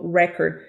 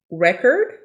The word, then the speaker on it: record: this is a vinyl record listen to the pronunciation record record record record they are written the same way but the pronunciation of these two words uh they are pronounced differently so be careful with